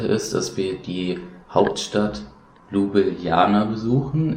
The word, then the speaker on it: Ljubljana: dass wir die Hauptstadt Ljubljana besuchen. Ich meine, so spricht man es aus, zu Deutsch Laibach, aber das hört sich ja wohl nicht so toll an.